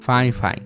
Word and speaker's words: Fifine: llegar a ser demasiado costosos y si se pronuncia así fine me lo dejaron bien en claro por correo